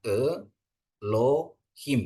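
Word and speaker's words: אֱלֹהִים: Ini ada patah, ada segol. Jadi bacanya Elohim ya.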